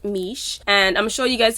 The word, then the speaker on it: Miche: package with their products and it's the brand mish it's pronounced miche and i'm sure you guys have heard about